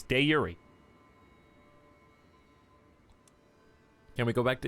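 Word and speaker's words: de jure: happy but no it's day Yuri stop that's how you say it we looked it up we found the Original Latin pronunciation it's de Yuri can we go back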